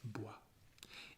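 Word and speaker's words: bois: words like oh yeah you don't pronounce the s at the end of this world yeah that's a difficult thing in french the letters that you don't pronounce so this is bua it means wood like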